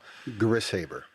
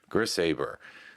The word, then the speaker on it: Grishaber: But let's start off by pronouncing your last name properly so that we all know. Grisabber. Grisaber.